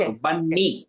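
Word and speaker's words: वह्नि: normally in that case the ह इस like a silent ह इट्स कॉल्ड व्नी वनी मीन्स अग्नि सो इट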